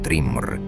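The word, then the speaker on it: Thrymr: Allí, en una fortaleza esculpida en hielo y roca, encontró al gigante Thrimr, pronunciado como Trimr, sentado sobre su trono, con una mirada satisfecha y un secreto en los labios.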